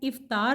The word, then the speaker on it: افطار: صحیح ادائیگی ہے افطار، الف کے نیچے زیر ہے، جبکہ ہم اسے افطار کے لفظ سے تلفظ سے ادا کرتے ہیں. افطار یعنی الف کے اوپر زبر ڈالتے ہیں. افطار درست نہیں ہے، افطار درست ہے.